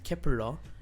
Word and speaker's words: Kep1er: nine members of kepler the name kepler pronounced in korean as kepura which was also announced